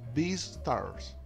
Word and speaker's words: Beastars: Es Beastars. Beastars, Beastars. Búsquelo así. O sea, esta estrella. Beastar. Beastar. Ya, espera. Es bestia, ¿cierto? Ya, partimos bien. Bestia. Beast. Beast. B-E-A-T-Y-Z. Riñón Z. Beastars.